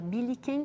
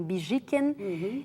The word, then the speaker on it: Billiken: Publica diversas coleções, escreve muitos dos livros, publica uma revista muito popular na Argentina chamada Billiken, ou os argentinos pronunciam Bijiken, e que era uma revista muito graciosa, que tinha uma repercussão enorme.